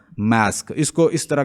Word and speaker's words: masque: और ओवरऑल इसको क्या कहते हैं, ऐसे मास्क भी कह लेते हैं, और इसकी जो स्पेलिंग है वो इस तरह के हैं, MASQUE।